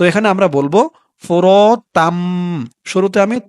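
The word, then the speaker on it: فُرَاتًا: দর্শক এখানে একটু খেয়াল করবেন, এখানে আমি প্রথমে বলেছিলাম ফোরতাং, উচ্চারণটা তাং হবে না, উচ্চারণটা হবে ফোরতাম, তাম হবে।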